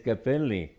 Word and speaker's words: capelli: may Capello I said they said no in Italian it's Capelli hairs I said well in